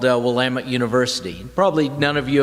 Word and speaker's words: Willamette: The way you pronounce it is Willamette, damn it.